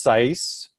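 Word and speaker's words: CICE: It contains version 5.1.2 of the Los Alamos sea ice model, pronounced SICE.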